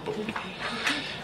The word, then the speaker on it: bobolu: It's spelled bobolu, but it's bobodu.